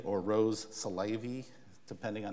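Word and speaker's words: Rrose Sélavy: vie and of course when you pronounce the name it means eros that is the life love that is life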